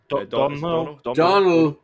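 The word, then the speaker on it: Domhnall: Donald, but it's spelled in the weird Irish way that even confuses me.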